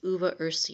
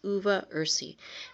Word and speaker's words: uva ursi: And the first one I'd like to talk about is uva ursi, and that's spelled UVA and then the second word is URSI. 2 words, uva ursi, and it's been used for hundreds of years